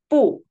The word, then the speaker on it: 不: So before first tone, second tone, and third tone, we pronounce 不, fourth tone. Only before fourth tone, we pronounce second tone 不是, 不累.